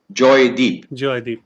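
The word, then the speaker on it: Joydeep: pronounce it okay but the bengali pronunciation is actually joy deep yeah but my deep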